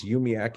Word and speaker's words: UUMUAC: I do want, when it comes to things, just as we pronounce UUMUAC as UMIAC, even though it's not 100% accurate, I would offer that we should pronounce NAUA as NAWA.